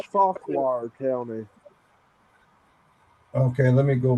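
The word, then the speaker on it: Fauquier: It's Farquhar County. Okay, let me go back. Okay, what county? Farquhar. How do you spell that?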